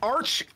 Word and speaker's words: Arch: there's a there's an old metal band called arch enemy but there was a long-standing fight if